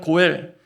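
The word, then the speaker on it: גואל: 말씀에서 심하였던 기업 무를자 히브리 발음으로 하면 고엘 그 고엘의 동사 형태가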